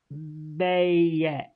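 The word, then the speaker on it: Maat: what she was um it's pronounced mayet you can say may may mayet she's an ancient Egyptian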